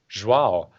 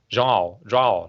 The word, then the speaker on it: João: It's a little bit like how you say São Paulo, like it's São Paulo. It's like in the nose a little bit. João, like something like this.